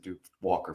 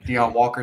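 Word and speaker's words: Deone Walker: Kentucky and I don't I don't know why I said Duke Walker from Kentucky but Dion Walker is how you say it Dion yeah Dion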